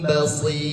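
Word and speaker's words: بصير: Karena huruf ro yang sebelumnya ya sukun dibacanya tipis. Sama dengan ini. Innallaha sami'un basir.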